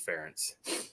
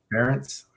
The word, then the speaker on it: Ferentz: How do you pronounce it? Friends or Ferenz or something? I think it's Ferentz. Ferentz. So we'll see.